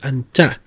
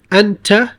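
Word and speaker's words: أنتِ: Now this isn't going to matter much because it's at the end of the sentence, so you will not pronounce this kasra. You'd say min ayna ant.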